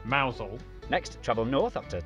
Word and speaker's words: Mousehole: head over to rampusham ransom then down to mousehole mouthhole next travel north up to tower sester toaster